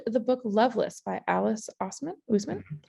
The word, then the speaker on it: Oseman: So our person would like some additional book recommendations, and they loved the book Loveless by Alice Oseman. Usman. I feel like Usman is the proper pronunciation of that.